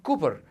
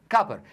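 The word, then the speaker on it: copper: بتيجي تنطق كلمه كبر ما بتنطقهاش كلمه كوبر بتاع المنتخب لا انتطقها ايه كابر فكانها سي يو لكن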